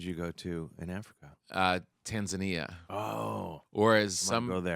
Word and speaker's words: Tanzania: or as I think the proper way to say it is Tanzania. yeah, that's what my friend Ali Kalanga in Kenya calls it, Tanzania. Tanzania, which sounds Um, like lasagna.